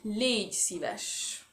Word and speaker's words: légy szíves: S'il te plaît, ça se dit légy szíves. Ok? Alors, ça s'écrit.